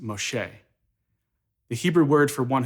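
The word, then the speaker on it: משה: but it's really close in hebrew moses is pronounced moshe the hebrew word for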